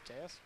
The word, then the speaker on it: Deus: And their alliance partner from Waukee, Iowa is team 20180, Deuce Ex Machina. Deus? It's Deus? Saying it wrong for like 2 years.